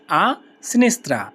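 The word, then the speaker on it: a sinistra: আ স্নেস্রা আসনেসত্রা আসিনেস্রা স্নেস্রা অর্থ বাম বাম সাইড বা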